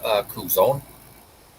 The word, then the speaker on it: Kuzon: Kuzon. Like off of Avatar.